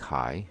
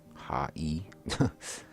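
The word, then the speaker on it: はい: is the English translation this word sounds like high or high however remember how II sounds like II the word high is actually pronounced ha e listen this Japanese is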